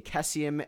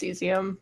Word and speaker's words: cesium: table so it follows The Adventures of a kes iam and selenium right now it's actually pronounced cesium yeah okay always called HS you do call